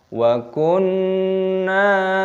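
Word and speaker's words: وَكُنَّا: Wa kunna nakhudu ma'al khaidin. Di sini ada nun tasdid, hukumnya dibaca gunnah berdengung, maka digunnahkan, didengungkan. Wa kun.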